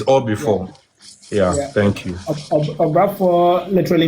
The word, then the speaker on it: Obrafour: Do you think there's anything else worth saying about, is it Obrafour? How do you say that? Obrafour? Yes, Obrafour. Yeah, friends with salad, Obrafour. That's exactly, you are getting it right.